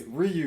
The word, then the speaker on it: Ryu: What's that other guy that you said we pronounced wrong? I was so mad. It's Ryu.